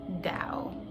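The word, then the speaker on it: Tao: it is actually pronounced google pronounces it like this dao that's how google pronounces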